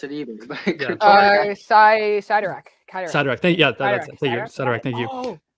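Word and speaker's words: Cyttorak: Kryderek? I can't pronounce it either. Sidorak. Sidorak.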